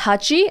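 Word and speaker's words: はち: internet slang that means clapping cuz 8 is pronounced Hachi and clapping is patchy so it's like punchy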